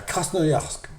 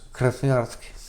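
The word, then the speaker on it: Красноярск: Ouais à Crasnoysk à côté. Ouais. Alors tu me dis c'est pas comme ça que ça se prononce en russe. Crasnarsk.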